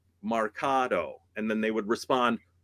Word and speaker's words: marcato: Okay you're going to do this Marcato in Marketo no Marcato that it's pronounced Mercado March like cool we did it